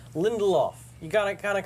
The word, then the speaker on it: Lindelof: show next week Damon lindoff whose name I could never pronounce say it for me once once I lindoff lindoff there's an L in the middle Lindelof you got of kind